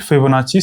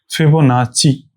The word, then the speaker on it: Fibonacci: फिबोनाची ची जैसे Gucci होता है ना गुची जी यू डबल सी आई ऐसे ही तो होता है। स्पेलिंग मुझे पता नहीं है। इसको गुची बोलते हैं। वैसे फिबोनाची है।